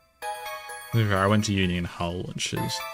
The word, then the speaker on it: Hull: I went to uni in Hull, which does pronounce the H. Well, I mean, some people wouldn't, but most people would pronounce the H in Hull.